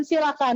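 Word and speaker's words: coelacanth: Ini adalah ikan silakan. Nulisnya coelakan tapi dibacanya silakan.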